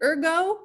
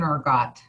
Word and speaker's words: ergot: to pronounce this word is it ergo or ergot it's an ergot okay i wasn't sure if it was like french sounding kind of no it's not that fancy just a plain older